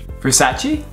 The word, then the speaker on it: Versace: Another very common mistake is the final E. Versace.